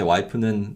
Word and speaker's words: 와이프: I would say, 제 와이프는 da. So I would just literally say the word wife phonetically in Korean. So 와이프.